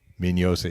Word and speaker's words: Mignosa: Mignosa is how you say his name, by the way. Even though there's a G in there, it's kind of silent.